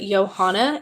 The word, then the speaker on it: Johana: And I try my I It's It's hard for people to pronounce, but it's just like Joanna, but it's pronounced with like a Y sound, if that makes sense.